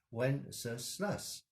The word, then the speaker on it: Wenceslas: get 30 different pronunciations no one seems to know how to pronounce wenceslaus or wenceslas as it is written in most of our hymnals there are actually more than 30 possible pronunciations but the most common in english is when sir slus the good news is with more than 30 possibilities you can't really go wrong just say it confidently